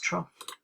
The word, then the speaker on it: trough: trout or a trough spelt trout but it's pronounced trough this diagram shows you